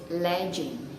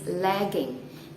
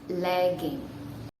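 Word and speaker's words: leggings: pronouns did not correctly they say it legend instead of legend and i don't know why maybe because they thought that every g in english is pronounced g so it's like legend but anyway i am going to tell you how to pronounce it correctly it is lagging instead of ledging one more time lagging okay list number six it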